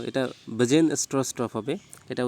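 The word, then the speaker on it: Bjarne Stroustrup: ওকে, এটা জাস্ট একটা উচ্চারণটা এরকম হবে, BJARN আছে, তো এটা বাজেন স্ট্রস্টপ হবে, এটা উচ্চারণটা ঠিক করে নেবে।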